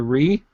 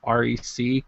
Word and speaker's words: Re: devices the re camera they call it the re not wre uh originally we thought it was going to be called the rec camera like record pronounced do we call it